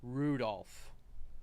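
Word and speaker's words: Rudolf: it's just this anyway this guy's name is pronounced Rudolph huh he must hate grandfather for giving him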